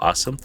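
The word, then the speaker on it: OSEMN: of things which uses a framework called awesome. I know it doesn't look like it's spelled like that but that's the acronym obtain scrub explore model interpret.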